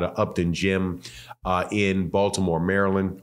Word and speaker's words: Maryland: Upton Gym in Baltimore, Maryland, or Maryland. Say it like Baltimore people say it, Maryland.